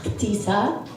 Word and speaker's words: Ahtisa: It's actually supposed to be pronounced Actisa.